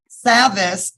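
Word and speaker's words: Savvas: do you say that when the last time savvis yes Formerly Known formerly known as Pearson yes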